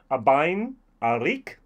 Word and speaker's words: Abhainn Araig: problems pronouncing it i'm going to call it the abine arik that's how i pronounce it that was and we